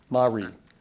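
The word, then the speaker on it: mare: perhaps the best known Mar on the moon sorry could you repeat the word Mar are there any alternate pronunciations Mari could you repeat the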